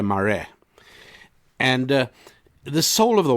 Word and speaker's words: Marais: South African author called Eugene morees pronounced in South Africa Mari and the soul of